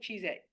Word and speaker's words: Cheesette: say what's your name cheese at don't worry I'll tell you how to spell it you're never going to hear it again it's cheese and then tte so what I'm saying